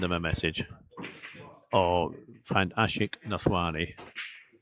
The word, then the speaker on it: Ashik Nathwani: Or find Ashik Nathwani. It's spelled exactly how it sounds.